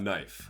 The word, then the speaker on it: knife: As an added bonus, let's talk about knife, the dark brother of utensils. This is a word so sharp that it cuts, almost like it fits the aesthetic, and it has a silent letter.